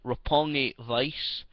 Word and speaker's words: Roppongi Vice: They lost to a team actually called, I believe, proper pronunciation is Roppongi Vice.